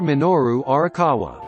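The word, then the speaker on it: Minoru Arakawa: help again how you say his name Mr minoru orawa renamed him Mario in the arcade sequel donkey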